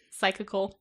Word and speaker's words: psychical: the Toronto Society for psychical research tspr who wants to do that one Psy py cycal psychical spelled like psy psy like psych yeah oh I was thinking like cyclical like a bicycle like with a p